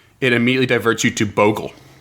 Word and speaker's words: bogle: I just don't see where the O would get the hard sound from.